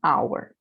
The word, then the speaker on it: hour: coisa aqui na palavra hora né que a our se não pronuncia sh também eu falo então é an hour a consoante h quando